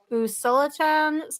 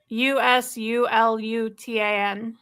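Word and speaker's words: Usulután: And Brett saying it's a small 3-bedroom, 2-bath house in, I'm going to butcher how you pronounce this, but Usulatan, El Salvador. Let me see it. Oh, sorry. It's Usulutan.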